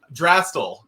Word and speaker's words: Drastal: you know yeah uh you did say our name wrong but it's totally fine we have okay so how do I say it drastel drastic and it's totally fine mentioned the letters